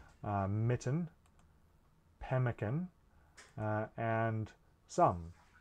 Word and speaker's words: pemmican: write two m's uh the way that we pronounce pemmican in english isn't twice as much as the way we pronounce that the m in mitten for example m is